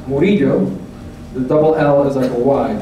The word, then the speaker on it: Murillo: I'm triggered into my last name is pronounced burrito the double a disciple